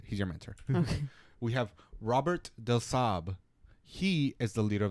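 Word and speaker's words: Robert de Sablé: know it's a sable but they do not pronounce it that way okay so so what did you say Robert the Saab okay right now the Creed of the Assassins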